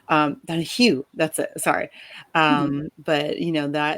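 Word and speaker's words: Donoghue: I don't know if you have read Room by Emma Donovan. I'm sorry if I get her name wrong. Donahue, that's it.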